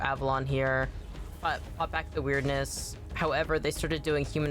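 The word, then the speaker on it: Wyrdness: However, this region has this weird sort of magic built into it called the Weirdness, W-Y-R-D-N-E-S-S, which I think is funny that it's spelled that way. And it sounds like weirdness.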